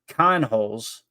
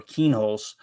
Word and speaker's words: Kienholz: Lincoln Kienholz, I think that's how you say it, or Kienholz, rounds out the room and was one of the 15 best quarterback recruits in the 2023 class.